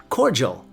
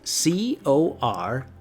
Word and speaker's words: cordial: day cordial it's spelt c-o-r-d-i-a-l now it looks like we want to say it cordial but it's pronounced cordial think of an apple core and your hair gel core gel cordial can you say cordial